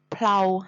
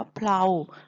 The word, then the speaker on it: เพลา: รถ คัน นี้ จะ เพลา หัก เพลา รอ อ่าน ว่า เพรา หมาย ถึง แกน สำหรับ สอด ใน ดู รถ อุดม ดุม เกวียน นะ คะ เพราะ ฉะนั้น อาจ เรา จะ อ่าน ว่า เพรา ส่วน พระ สงฆ์ มา บิณฑบาต ใน เพ ลา เช้า เวลา ก็ คือ เวลา นั่น เอง เห็น ไหม คะ เขียน